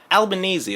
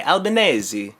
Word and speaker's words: Albanese: that she takes Maryann albanes albanes you say like from Albany I guess I guess so they learn to pronounce it right eventually albanesi although some people would say albanesi as well so that's that's Anthony